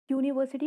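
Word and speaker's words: university: यूनिवर्सिटी को जब हम प्रोनाउंस करते हैं तो फर्स्ट लेटर हमारा यू निकलता है.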